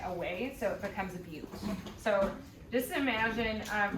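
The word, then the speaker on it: butte: you pronounce it is beaut so say that with me okay so no it's not butt okay because there's an e there all right so a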